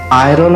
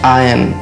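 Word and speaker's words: iron: দেখো, এটার উচ্চারণ আয়রন আমরা প্রায়শই করে থাকি। এই শব্দটার সঠিক উচ্চারণ হচ্ছে আয়ন, কিংবা যদি আরের উচ্চারণ তোমাদের করতেও হয় তাহলে আয়রন এরমভাবে করতে হবে।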